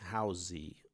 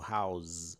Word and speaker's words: house: exemplo a palavra house, e a gente pronuncia, né, housey ou house, com z, né, durante anos para chegar numa aula de pronúncia em inglês e descobrir que se pronuncia house com s e não com som de z.